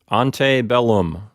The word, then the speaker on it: antebellum: well this is an antebellum house when we say Antebellum that's kind of an anglicized pronunciation a more authentic Roman pronunciation probably would sound like ante bellum anyway ante a requires